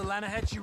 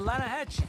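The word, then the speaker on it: Lannahechee: The other day, I rode down to the Lanahatchee River. I caught some beautiful steelhead trout. You mean the Lanahatchee River? No. The Lanahatchee. It runs right near here. Yeah, but it's pronounced Lanahatchee. Why is everything in English said differently than it's written?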